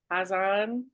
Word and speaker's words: Hazan: Hazan. She's Hazan.